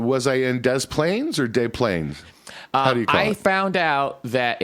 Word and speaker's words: Des Plaines: Well, I was in Was I in Desplaines or Day Plains? Um I found out that it is pronounced Desplaines.